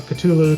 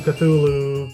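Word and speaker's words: Cthulhu: a culu um and it's variously pronounced you know culu cthulu Kulu you pick pick your poison it really doesn't matter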